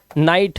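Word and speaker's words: night: अब यहाँ पर देखो एग्जाम्पल्स आपके सामने, ये देखो आई के बाद जीएसटी, तो जीएच साइलेंट है तो ये पढ़ेंगे फाइट, लाइट, राइट, नाइट, माइट और टाइट।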